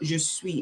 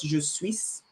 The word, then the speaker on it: je suis: It's silent. So there are some words that are silent in French language. We don't pronounce there's some consonants that are silent. So you just pronounce je suis, not je suis.